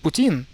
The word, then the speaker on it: Putin: Actually, the proper pronunciation is Putin. The emphasis is on the first syllable.